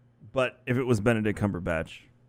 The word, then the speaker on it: Cumberbatch: if it was benedict cumberbatch i love when people pronounce his name wrong they're like bondi on cumberbund yes mr cumberbund so i think they